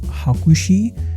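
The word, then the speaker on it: 箱推し: on to this apparently 8504 in Japanese is pronounced hakushi which means box support in Japanese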